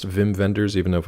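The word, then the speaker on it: Wim Wenders: know too many wiim Wenders uh is it pronounced Vim venders even know if it's it's spelled ww um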